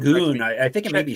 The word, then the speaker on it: Şengün: I know I'm saying it's Sengun, right? Or Sengun. Yeah. I say his name wrong every single time. It should be Şengün.